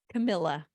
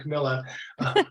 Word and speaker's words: Camilla: more good stuff from her I must be mispronouncing your name that's your first name for me Camilla Camilla yeah I was wrong every time Camilla that's fine the uh is that the concert